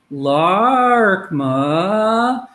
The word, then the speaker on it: Laarkmaa: musical tones and so when we when we pronounce their name as they first gave it to us lark ma that is their musical tone of the way